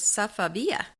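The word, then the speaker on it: Safavieh: pronounce that uh but I did find find out how it is to be pronounced and that is safia safia okay no wonder we weren't getting that right that's kind of a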